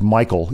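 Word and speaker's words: Michiel: his first name is pronounced Michael even though it's spelled m i c h i e l his last name is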